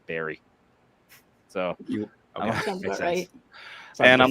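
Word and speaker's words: Barre: funny though is that b a r r e is actually the name of tan I'm from in Vermont we pronounce Barry so and I'm like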